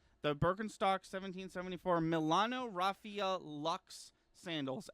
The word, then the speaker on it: Luxe: The Birkenstock 1774 Milano Raffia Luxe sandals. Luxe. I've been told that is pronounced Lux.